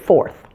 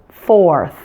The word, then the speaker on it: fourth: the number four for it almost sounds like there's two syllables there doesn't it four stretch it out now let's go ahead and add that th to create forth so forth forth careful not to